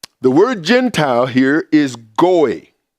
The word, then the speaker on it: goy: The word Gentile here is goy. Goy is generally how it's pronounced.